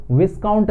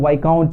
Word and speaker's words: viscount: और इसको ध्यान रखें, इसको विस्काउंट नहीं पढ़ेंगे, एस इसमें प्रोनाउंस नहीं किया जाता, इसे हम लोग वाइकाउंट कहते हैं.